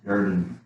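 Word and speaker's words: ירדן: You got the silent Sheva underneath the Resh. This is a closed syllable. Yarden, Yarden? the Jordan, the Yarden. Yarden.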